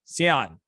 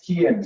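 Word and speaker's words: Cian: Sion, I know I'm pronouncing that wrong, I think. You're up next. Hi, Dan. Yeah, it's Kian, so the hard C.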